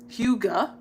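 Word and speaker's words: hygge: Huga. That's not what it looked like. Huga. Huga. Girl, get your Huga on. It's spelled it is spelled Hyggge.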